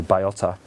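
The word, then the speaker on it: bellota: So Baiota, it looks like it's spelled Balota, but it's actually Baiota, is a grade.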